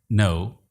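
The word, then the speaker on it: know: थम, नो, right. थम में बी, नो में के और राइट में जी साइलेंट है।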